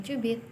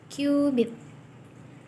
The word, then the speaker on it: cubit: mereka menggunakan satuan kyubit tulisannya sih cubit tapi dibacanya bukan cubit tapi Q bit atau yang kita kenal